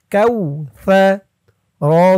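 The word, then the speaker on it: الكوثر: Calf wow জবর কাউ, সা জবর সা, তার আওয়াজটা নরম হবে। কাউ সা, কাউ সা, সা। জিব্বার মাথা উপরের দাঁতের মাথার সাথে লাগবে সার উচ্চারণটা করার সময়। কাউ সা। র জবর র, এখানে অক্ফ করার কারণে এই রর উপরে জবরটা সাকিন হয়ে যাবে। সার উপরে জবর দিয়ে রকে ধরলে যেমন উচ্চারণ হয়, এখানে তেমন উচ্চারণ হবে। কাউ সার, কাউ সার।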